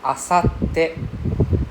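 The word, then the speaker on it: あさって: Two T, we separate the two T. The first T go with the first part. Pronounce together the first part. So you can see there's a SAT, right? Not Saturday, Sat. Sat. So asate. Yeah. So there's a pause in your breath in between the two T's.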